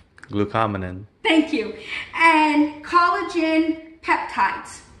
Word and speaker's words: glucomannan: two things that I do not they put blue comb glucomannan thank you and collagen peptides I believe that